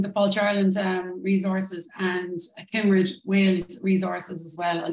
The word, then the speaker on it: Cymru: Cymru.